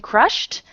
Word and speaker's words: crushed: okay um uh um Crush has uh Ash Ash on unvoiced sound then that uh consist uh S and R and H um and uh for past uh we had we have to add T at the at the end of the word um um oh sorry